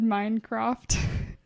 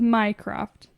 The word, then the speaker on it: Mycroft: You just said Minecraft. Oh, sorry. Like Minecraft. Well, how do you pronounce his name? Well, it's Mycroft.